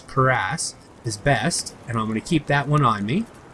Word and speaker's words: cuirass: I'm going to see which leather cuirass, that's the correct way to pronounce that word, is cuirass, is best.